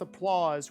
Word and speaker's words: applause: But we don't say applause rhyming with support, because we'd be like applause, support, ort, oz, ort, oz. You see how they're different.